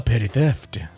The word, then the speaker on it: A Petty Theft: And finally, a shout out to our good buddy, A Petty Theft. It's kind of cute. That is how it's pronounced. 2 P's at the beginning, 2 T's at the end.